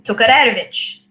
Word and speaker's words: Tokarevich: When my great-grandparents were in Ukraine, the way that they would pronounce the name is Tokarevich. And that's the Ukrainian way to say it.